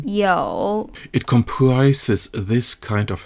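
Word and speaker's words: 有: this list we have the hansi character with the meaning to have and the pronunciation yo it comprises this kind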